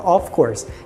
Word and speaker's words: of course: som realmente do F mas o of course só tem um F a pronúncia vai ser como se fosse V Então pensa nisso daí é como se fosse o v então fica of course e of course quer